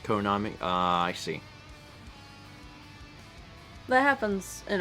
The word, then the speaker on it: Konami: Dossett says the pronunciations because the numbers are pronounced Co Nami I see that happens